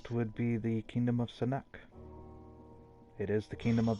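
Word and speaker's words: Sinuck: I heard Thanuk. Sorry, Sanuk.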